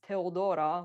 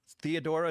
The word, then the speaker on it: Teodora: I mean, my name is Teodora, which is a Greek name, so Okay. That's how you pronounce it. Theodora is way off.